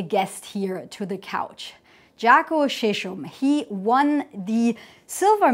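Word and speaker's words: Žarko: It's pronounced Zarko.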